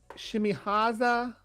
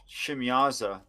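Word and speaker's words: Shemyaza: how they pronounce it that sounds like it has an extra syllable in it probably shimyaza yeah there shouldn't be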